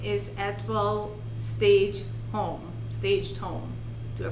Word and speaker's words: Atwell Staged Home: her company name is edwell stage home staged home to pronounce that correctly you got it yeah if you take the t out it's a well staged home all right i love